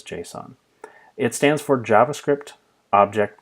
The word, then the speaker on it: JSON: else called JSON and that might be pronounced Jason in some contexts I've come to know it as JSON it stands for JavaScript